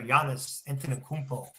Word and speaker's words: Giannis Antetokounmpo: They are telling me that the Nets are in play for Giannis Antetokounmpo. You like that? I pronounced his name right.